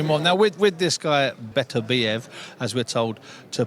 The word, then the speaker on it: Beterbiev: Now, with this guy, Beterbiev, as we're told to pronounce it, he's a kid that doesn't go looking for finishes, but finds finishes.